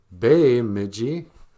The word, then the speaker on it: Bemidji: in a jib way when you see the letter e it's pronounced a like in the word Ojibwe oj ib w e